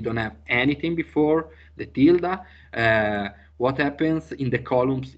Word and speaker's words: tilde: Tilde in English is tilde.